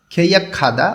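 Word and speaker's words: 계약하다: পরে এই নিচের যে পিকচারটা এখানে লেখা আছে খেইয়া খাদা অর্থ চুক্তি করা গিয়ে ভাতমের পরে হিউত আছে গ টা হিউতের স্থানে গিয়ে খ উচ্চারণ করতে হবে খেইয়া খাদা অর্থ হচ্ছে চুক্তি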